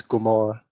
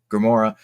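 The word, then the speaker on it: Grimora: name I don't problem it's gmora gmora uh do you always it's up the word grimor okay okay and I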